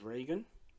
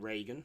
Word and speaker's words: Regan: of Linda Blair as Regan Regan not Reagan that was the president Regan Regan Regan yeah